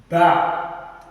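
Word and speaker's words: ب: alif Al alif the next one is ba ba ba say it after me ba so the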